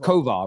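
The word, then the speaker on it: Kovář: It's pronounced Kovar, right?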